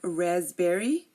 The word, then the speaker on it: raspberry: and now we have raspberry and receipt so coup cupboard raspberry receipt if you notice I did not pronounce this p in any of these words and these are just